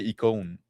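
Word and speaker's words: icône: In French we say eone. Mhm. Because we don't do the the I as I. We do them as.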